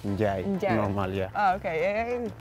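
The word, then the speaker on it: N'Diaye: And I said N'Diaje, but your surname is pronounced in a different way. Is it N'Diaje? Njai.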